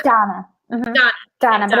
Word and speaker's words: Danna: It's Danna. Mm-hmm. Danna, but it's spelled D-A-N-N-A, so everybody gets it confused.